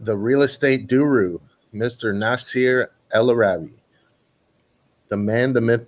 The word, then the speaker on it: Nasar: And we've been talking, I mean, am I saying it right? Nasir, right? It's actually Nasar.